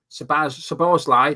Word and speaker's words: Szoboszlai: And I always get muddled up with pronouncing this guy's name. Szoboszlai, there you go.